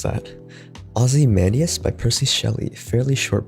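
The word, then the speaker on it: Ozymandias: to my book reading the pronunciation was correct so ozzy mandius okay the b movie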